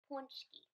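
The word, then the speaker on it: pączki: She shared a Polish tradition of making and eating jelly donuts filled with sweet and savory fillings called punchki, pronounced punchki.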